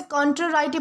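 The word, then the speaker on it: contrariety: दोस्तों इसे कॉन्ट्राराइटी प्रोनाउंस किया जाता है, जिसका मतलब होता है विरोध, असहमति या फिर विपरीतता।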